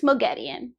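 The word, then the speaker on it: Moghedien: I know there's some controversy about this one because they pronounce it two ways in the audiobook, but it's Mogedian.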